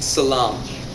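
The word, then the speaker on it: سلام: use over there are high you pronounce that by saying Salam goodbye you pronounce that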